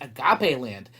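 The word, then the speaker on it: Agapeland: and their adventures in agape land yes it's pronounced agape land not a game ask your mommy and daddy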